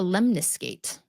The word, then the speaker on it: lemniscate: on its side mhm no it's called a lemnis skate oo I like that spell that out for me uh l e m n i s c a t e lemniscate or one word it's from the Latin